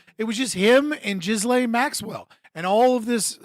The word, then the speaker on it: Ghislaine: Is like they will literally get upset with you for pronouncing the S in her name. At all. Ghislaine Maxwell, the only one who actually faced consequences, right?